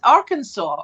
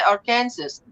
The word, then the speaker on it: Arkansas: it's too hot now i would say are kansas but it's arkansas isn't it how would you pronounce that arkansas arkansas arkansas but now now if you would if you didn't know any better you would say our kansas because that's because how